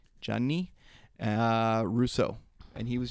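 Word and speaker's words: Gianni: his real name yeah like johnny spelled like g in italian yeah yeah yeah gia nni johnny uh russo and he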